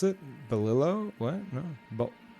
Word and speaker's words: bolillo: But yeah, I compared to what I was eating before, it's pronounced bolio. Bolio? Really? Even with an L after? Okay, yeah. Bolio. All right. Double L equals Y.